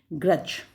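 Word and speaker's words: grudge: तो ग्रज, तो इसमें क्या है, जब हम ग्रज बोल रहे हैं तो पहले वाले में तो टी साइलेंट था, दूसरे वाले में ग्रज में क्या है, डी साइलेंट है।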